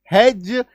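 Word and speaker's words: hedge: लेकिन नहीं भाई साहब, इसका उच्चारण ज होता है। तो LODGE laws, FRIDGE fridge, HDGE हेज, WDGE वेज, PLDGE प्लेज, DODGE डॉज।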